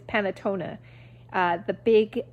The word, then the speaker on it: panettone: sorry you guys i i always think it's panettone but i know that's not right i think it's panatona uh the big it's